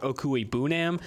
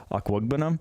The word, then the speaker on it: Okwuegbunam: Staying in Missouri, tight end Albert Okwuegbunam.